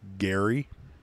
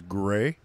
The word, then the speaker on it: Grey: Not to be mispronounced Gary or anything else. It is Gray. Like Gray's Anatomy.